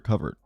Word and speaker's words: cupboard: at the cupboard and is it cupboard or cupboard? Cupboard or cupboard? Cuz it's spelled like cupboard, but it's cupboard, right?